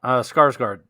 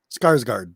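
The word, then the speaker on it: Skarsgård: sizagaard says uh what's how do you say his last name i never say right did it the clown oh skarsgard skarsgard that's it yep that's interesting i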